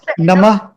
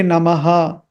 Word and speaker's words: नमः: to repeat but okay so Nama is the right pronunciation Nama in music when you are accompanying it with the music or when we are for example we are chanting Guru Stam or something we might say namaha because then you the meter is more important rather than the pronounciation of the samskritam so in those contexts